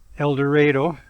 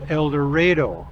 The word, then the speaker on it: Eldorado: It's the little hamlet of Eldorado.